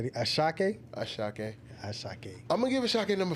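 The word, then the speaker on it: Asake: Ashake.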